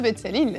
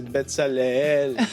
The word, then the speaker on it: Betsaleel: je suis accompagné de deux betsalille non c'est betsalelle ouais peut-être ça se prononce différemment pour de vrai hein faut bien ressentir le E ouis c'est voilà comme